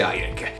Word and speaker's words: Airek: Mi chiamo nella vita reale, ma sul web mi faccio chiamare Airek, che si scrive in questo modo strano, ma si dice Airek.